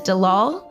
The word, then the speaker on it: Delal: you won't want to miss today's guest is Dalal Peck toss I said it right you said